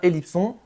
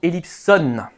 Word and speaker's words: Elipson: Et se prononce bien Ellipson et non Ellipson.